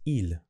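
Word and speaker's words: ils: the next one is ill okay just pronounce as i l but it's plural they are happy is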